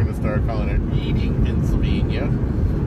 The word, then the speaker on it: Reading: Reading should be spelled R-E-D-D-I-N-G.